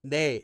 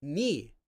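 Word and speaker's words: 네: But this one is actually not pronounced as nay anymore. Originally this sound and this sound were different. But nowadays they are not. The spelling though is still the same. This actually nowadays gets pronounced as ni which was originally a dialect version of this.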